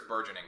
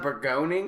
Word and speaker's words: burgeoning: it's burgeoning pretty sure it's burgeoning it's not begoning it's not bergoning i can tell you